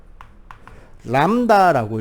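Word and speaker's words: λ: 참고로 요거 읽는 법은 람다라고 읽으면 돼요. 그리스어입니다.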